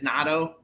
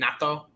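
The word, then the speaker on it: Naito: the number one is natto uh that's how you say his name natto um they had a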